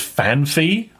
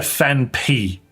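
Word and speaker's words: Phanpy: I've always pronounced fan as fanf. See, I get that. But it's clearly a fan pee. Anyone who calls that fanpie is illiterate. There's no second hate. There is not.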